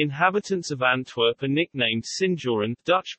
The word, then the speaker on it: Sinjoren: The inhabitants of Antwerp are nicknamed Sinjoren, Dutch pronunciation, S-J-O-R-N, after the Spanish honorific seigneur or